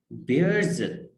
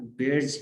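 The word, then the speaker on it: bears: The tree बेयर्स an apple bright, ठीक है, ये लफ्ज जो है इसकी प्रोनाउंसिएशन भी क्या है जी, बेयर, ठीक है, लोग इसको गलत पढ़ते हैं बियर, वो जो रीच वाला होता है वो भी, और दूसरा भी, दोनों में आप बेयर्स ही पढ़ते हैं इसको, बेयर, ठीक है, बियर्स जो है वो गलत प्रोनाउंसिएशन है।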